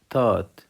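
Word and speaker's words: taught: ينقذ ينقذ ينقذ تيتش تات تيتش تات يعلم وكلمه تات الجي والاتش لا تنطق سم سوام سم سوام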